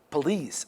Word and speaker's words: police: opposite on the first also police police on the second plea it's poli police on the second okay